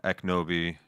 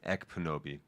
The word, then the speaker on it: Ekpunobi: So now we're going to drop over to Eknobi. I'm mispronouncing her name. Ekpunobi.